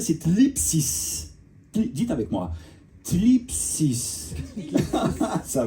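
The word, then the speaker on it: θλῖψις: C'est, je vais essayer de bien le prononcer, c'est thlipsis.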